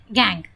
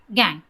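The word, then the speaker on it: gangue: ऐसे इम्प्योरिटीज़ को हम कहते हैं गैंग। अब बहुत से बच्चे उसको गैंग्यूज, गंगू एंड सो ऑन कहते हैं, बट ऐसा नहीं है। वी हैव टू से प्रोनाउंस इट प्रॉपरली। इसे हम कहते हैं गैंग।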